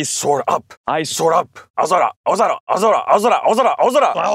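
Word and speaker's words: 青空: How do you say this? You say, aozora.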